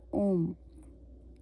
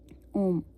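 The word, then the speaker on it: homme: तो जैसे एच ओ एम एम ई है तो इसकी एच हम नहीं प्रोनाउंस करेंगे तो यह क्या रह जाएगा ओम ओम ओम का मतलब होता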